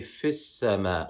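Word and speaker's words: في السماء: Whereas when we continue from the last word, we say fis-sama. We do not pronounce it as if it was a real hamza.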